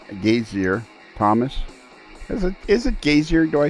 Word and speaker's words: Gasior: that it just slips right off a ton gazer rather than pronounce the rather than pronouncing the vowels easier it's gazer correct yes Wow it's actually a Polish name